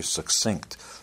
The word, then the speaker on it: succinct: And my mother is very succinct. By the way, that's the correct way to pronounce that word, not succinct. It's like success, succinct.